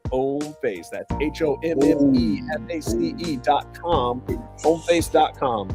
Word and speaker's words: Hommeface: Yes, the H is silent. Homeface.